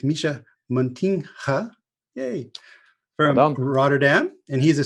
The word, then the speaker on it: Mischa Muntinga: one for the americans in america i would call it montina which is a complete bastardization so it's misha montinha hey rotterdam and he's